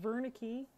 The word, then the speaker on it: Wernicke: Well, Wernicke, even though it's spelled with a W, it's a German name, so V.